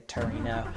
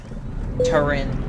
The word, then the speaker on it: Turin: I'm not continuing all the way to Torino. Turin. It's pronounced Turin. In the US.